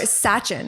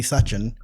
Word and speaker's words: Sachin: or Sachin, right? Yeah, I like. You like? Yeah. Okay. Okay. But is it pronounced Sachin or Sachin? Yeah. Suchin. Suchin. Yeah. Okay. Suchin.